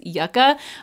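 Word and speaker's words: Yucca: was inspired by and it has the short u so I just wanted to put that out there in case anybody's thinking I'm saying it wrong I promise you it's yucka um but anyway this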